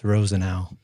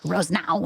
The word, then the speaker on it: Rosenau: just virtual cheers how do you pronounce your last name Rose now Rose now yeah I think I was I think I've always just in my head done three syllables roseen now so I was close yeah very close for the longest time when I was dating Sam I thought it was Rose no and I was like